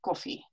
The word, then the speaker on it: koffie: So the English word coffee in Dutch is pronounced koffie. So there is less time between the release of the plosive and the onset of the vibration of the vocal folds.